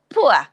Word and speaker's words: poor: poor lady poor and remember british english do not um pronounce the er at the end of i'm just telling